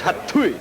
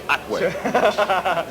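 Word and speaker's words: Hatuey: Everyone says Hatui, but it's Atwe.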